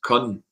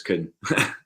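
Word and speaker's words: Kühn: You were trying to convince me that what's his face, Kuhn was Kun, and it's definitely Nicholas Kuhn.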